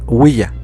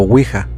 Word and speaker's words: Ouija: El nombre de Ouija se deriva del francés oui, que es sí, y del alemán ja, que también significa sí, y que se pronuncia Ouija o Ouija. Finalmente, la patente le fue